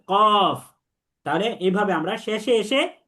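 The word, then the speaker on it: قاف: কফ। বলেন। কফ হ্যাঁ, কফ, তিন আলিফ টানতে হবে। কফ হ্যাঁ, দেখেন শেষে ফা উচ্চারিত হবে কফ।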